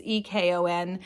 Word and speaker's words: Ekon: I think his name is pronounced Ekon or Econ. It's Ekon. He goes on a date